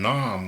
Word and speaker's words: Nam: is a war song and Nam will rhyme with mom and AM rhymes more with damn than anything else so if I'm gonna